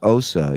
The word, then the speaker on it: Asa: I found a clip on YouTube where Asa was on the Stern Show. She said her name is pronounced Osa.